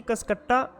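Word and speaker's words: Cuscuta: भी बोलते हैं, ऑप्शन सी कसकट्टा, कुछ कुसकट्टा बोलते हैं, अलग अलग बोलने का प्रोनाउंसिएशन का अलग अलग है, सभी का अपना अपना, ऑप्शन डी लोरेंथस।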